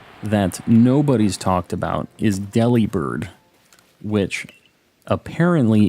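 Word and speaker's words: Delibird: nobody's talked about is Delhi bird which apparently in the anime they say delivered like delivered with a B and I never never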